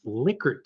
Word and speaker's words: Likert: Other type of questions that you'll probably be hit with are sentiment questions, Likert scale data. And by the way, it really is pronounced Likert, not Likert.